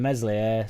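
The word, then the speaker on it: Meslier: It's just get rid of melier silent s and then we go up instantly.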